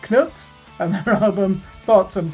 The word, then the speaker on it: CNTS: It's spelled CNTS, Charlie November Tango Sierra. To be diplomatic, we'll use the name Knuts and their album Thoughts and Prayers.